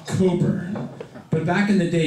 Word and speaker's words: Cockburn: over puns don't work tonight I even get cockburn all right he was probably the guy that